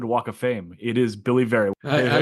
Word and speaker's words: Billy Vera: It is Billy Vera. I like you already. You pronounced my name right.